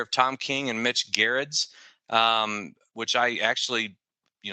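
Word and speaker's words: Gerads: I actually you know I think I've mispronounced his word for a long time now but I looked online and found a video interview with him and that's how it's uh pronounced uh he did the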